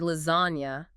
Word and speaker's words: lasagna: The G in the word lasagna is silent.